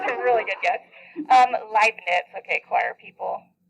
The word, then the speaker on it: Leibniz: Leibniz. Okay, choir people. German. I comes after, right? You pronounce the second vowel.